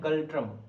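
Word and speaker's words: Ngultrum: ঠিক আছে এর এনটা উজ্জ্ব থাকে উচ্চারণ হয় গালট্রাম গল্ট্রাম এনগালট্রামও তুমি মুখস্ত রাখতে পারো যদি তোমার স্পেলিং এর জন্য পড়তে পারো কিন্তু একচুয়ালি উচ্চারণ হয় গালট্রাম গালট্রাম ঠিক আছে কি হয় ভুটান থিমপুক গালট্রাম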